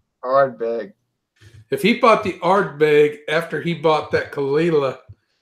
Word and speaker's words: Ardbeg: Kalila, and he went and bought the Ardberg. Ardbeg. What? Ardbeg. Ardbeg. If he bought the Ardbeg after he bought that Kalila.